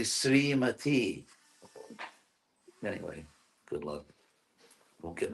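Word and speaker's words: श्रीमती: Srimati. Yeah, which is wrong. It's actually Srimati.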